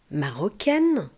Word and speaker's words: marocain: On dit une marocaine, un marocain. Vous voyez le c ici va se prononcer que marocain marocaine.